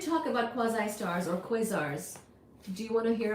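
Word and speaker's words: quasars: So since somebody asked about quasi stars or quazars, that's exactly how you say it.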